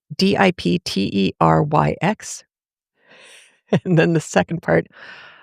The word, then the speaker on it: Dipteryx: I am going to try and pronounce it because it's kind of funny. Dipteryx, Dipteryx.